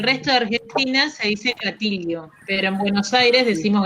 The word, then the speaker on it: gatillo: We don't pronounce double L as either yo or sho.